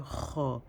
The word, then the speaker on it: خ: Inshallah, you kha, this letter right here, kha. Sometimes people read it without bringing out the scratching sound, or make it like a qaf, yuqa, and that would be wrong.